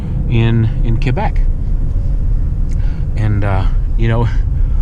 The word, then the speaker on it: Quebec: is like in in Quebec and you know it's funny being in the military you know we always pronounced Q as Quebec and then I was corrected in the civilian world it's Chloe Beck but then I hear